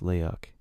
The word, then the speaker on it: leak: Leeks, pronounced leok, are witches created by black magic.